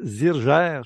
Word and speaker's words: Zirger: qui vont être oubliés vous appelez Michel zurger c'est comme ça qu'il faut prononcer oui et bonne chance